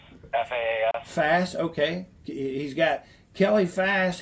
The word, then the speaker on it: Fass: I don't know how to pronounce her last name, AJ. Fass, F-A-S. Fass, okay.